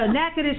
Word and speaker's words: Natchitoches: i T o CH is Natura touches so NACA dish is how it's pronounced and pretty soon they're going to be